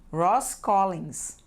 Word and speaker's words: Ross Collins: Essa tal de Ross Collins. Ross Collins. Isso mesmo, é assim que se pronuncia em inglês.